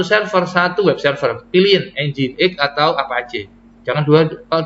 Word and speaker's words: Nginx: Pipeline grep spasi Nginx atau Nginx. Bacanya Nginx Pak Iki ya.